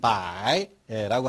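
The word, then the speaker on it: 白: 뜻은 희다, 음은 백, 발음은 중국어 발음은 바이라고 하는데요.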